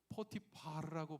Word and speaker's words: 포티파르: 해야 되는 보디발 포티파르라고 발음해야 되는 저 사람 구약 성경 창세기에 등장하는 파라오.